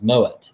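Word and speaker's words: Moët: only found out recently is that moet is pronounced mowett it's not my way as the rest of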